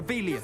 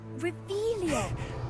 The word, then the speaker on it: Revelio: You're Revelius. saying it wrong. Ugh, Revelio. Much better.